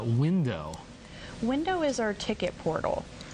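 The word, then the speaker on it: Whindo: What is this thing called Window? Window is our ticket portal, and it's free to sign up. And it's spelled interestingly, W-H-I-N-D-O.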